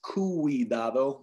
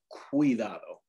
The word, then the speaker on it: cuidado: So this word would not be pronounced cuidado, but cuidado.